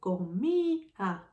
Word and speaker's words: comía: And the second thing that I need to do is to write the accent on the I.